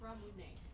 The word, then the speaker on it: Ramune: I call it ramen. Is that how it's pronounced? Ramune.